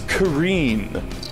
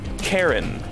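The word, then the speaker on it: Karin: Guys, I learned that in Street Fighter Alpha, it's Kareen, not Karen.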